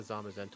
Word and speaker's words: Zamazenta: I think that's pronounced. That is correct, yeah. This was a member-suggested run from Mariah, the Zamazenta lover, one of my members.